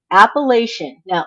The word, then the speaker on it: Appalachian: and my sources are appalachi now I have heard it said pronounced appalachin and I've heard people people say that that is the correct way to say it I am going to say Appalachian because it's very akin